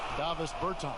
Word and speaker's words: Davis Bertans: Oh, well now, at this point in my life, it's Davis Bertans. Is that how you say his name? Yeah. Davis Bertans.